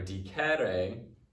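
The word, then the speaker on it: dicere: All right, and then number 2 is diko or dikere. So it's not in the same conjugation as that first one because it is a short E before the RE as opposed to a long E.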